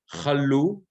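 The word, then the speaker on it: כָּלוּ: And then, so this is chalu, as we said, milra, i.e., the accent is on the second syllable.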